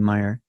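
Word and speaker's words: Maier: book the vivian palms a street photographer vivian meyer it's spelled m-a-i-i-m-a-i-e-r so you can find a great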